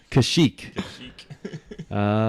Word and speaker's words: Kashyyyk: is the Wookiees homeworld and how do you pronounce it Vinnie I you know and uh the holiday special Kashyyyk let's see if we were right we were